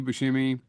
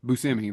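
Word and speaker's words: Buscemi: the whole scene with Steve Bushimi. Actually, it's Steve Buskimi or Busimi. Busousimi, that's what it is.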